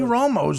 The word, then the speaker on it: Romo: Tony Romo's last name rhymes with homo.